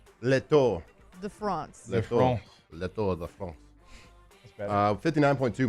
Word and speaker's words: Le Tour de France: Le Tour De France.